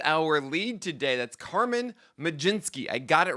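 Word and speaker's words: Mlodzinski: That's Carmen Majinski. I got it right, guys. I got the pronunciation pronunciation guy.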